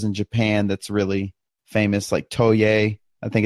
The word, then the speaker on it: Toei: Toei. It's like Joey, but Toei.